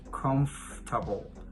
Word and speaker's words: comfortable: comfort table yeah but in english there are like some sounds that are not produced so that's the reason why this word is pronounced a comfortable i mean in this